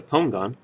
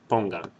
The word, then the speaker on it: pongan: Now you should be able to hear that the stress in that word is on that syllable, pongan. Right now, there are only 2 syllables, pongan. And this is the last syllable. Let's ignore this say for a second, okay? Let's just pretend it's pongan. There's pongan, 2 syllables, and since the stress is on the second syllable back from the end, or the